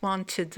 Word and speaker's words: wanted: W wanted America's most wanted man. D'accord. Donc premier type de prononciation it wanted. Toujours la prononciation ID.